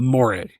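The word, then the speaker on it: Moirai: The Morae.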